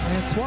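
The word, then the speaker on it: François: Francois, with nice French pronunciation.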